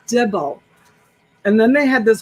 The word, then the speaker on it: dibble: that and i said it's not devil honey it's dibble and then they had